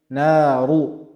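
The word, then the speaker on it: نارُ: Here we have a dhamma, so ra will be pronounced in a heavy manner. Naru, naru, not naru, ru is wrong. Naru.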